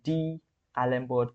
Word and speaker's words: d'Alembert: remember this is our the most important principle D Alber principle if I'm pronouncing it right d Alber principle okay there